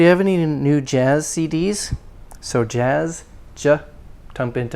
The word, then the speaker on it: CDs: jazz jazz cds jazz cds not she d but cd c keep the s not like a sheep cd now we talked